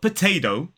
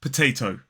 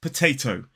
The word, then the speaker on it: potato: British RP accent it's potato the first t is aspirated because it's at the start of a stress syllable and the last is unaspirated and if you try